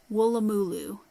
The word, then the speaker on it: Woolloomooloo: Oh, and I know how to pronounce this because Sam from Australia, Sam by Hook or by Needle, said it's Woolloomooloo, and it's a city in Australia, or a